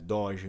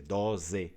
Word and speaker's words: doze: Então lembrem que doge no Vêneto vai ser escrito com a letra Z e pronunciado igual, né? Com a letra Z, doze, não doge.